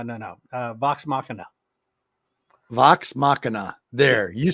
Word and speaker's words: Vox Machina: mighty uh no no no uh vox machina vox machina there you said it right perfectly yeah excellent